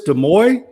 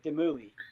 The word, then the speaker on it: Demouy: But I think it's Demoy. Is that right? Close. It's A for effort right there. Demui.